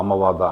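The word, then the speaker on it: Amavata: rheumatoid arthritis or vadaka or amawada as it is pronounced in Ayurveda.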